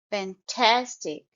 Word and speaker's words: fantastic: underlined all the syllables and the stress is on the second syllable fantastic tastic fantastic so you will stress Tas second syllable Sarah looks fantastic in